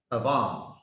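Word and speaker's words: עוון: It pronounced Avam.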